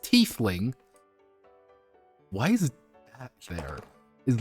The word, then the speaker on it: tiefling: A tiefling, pronounced tiefling.